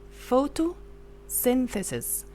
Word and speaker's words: photosynthesis: we have sin here the Y pronounced as short sound okay looks like I